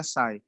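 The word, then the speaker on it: psi: ठीक है, यहाँ पे पी साइलेंट है, साई से डिनोट करते हैं, साई।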